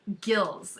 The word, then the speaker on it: Goelz: called winning with Doug gills and it's spelled g-o-e-l-s that for some reason he wants it to be said gills Doug gills is a